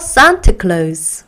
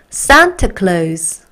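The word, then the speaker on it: Santa Claus: 읽어 보면서 외워보도록 할게요 산트 클로즈 한번 더 산타클로즈 마지막 sant clace 좋아요 이렇게 우리 앞으로는 산트 클로즈 이렇게 발음해 주시면 좋겠습니다 그죠네 자 그 다음에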